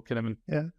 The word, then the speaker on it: Cynefin: So that's how I heard him pronounce it.